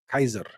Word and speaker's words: Caesar: The actual pronunciation was Kaiser.